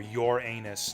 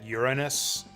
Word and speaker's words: Uranus: know who Uranus was or your anus to pronounce it correctly I like to pronounce it Uranus just to not have it sound funny but I don't actually think that's proper I don't think that